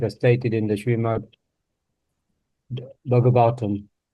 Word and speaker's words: Bhagavatam: The professional stage can automatically be attained by Krishna and Krishna consciousness as stated in the Srimad Bhagavatam. Look, the stress is on the A. Bhagavatam.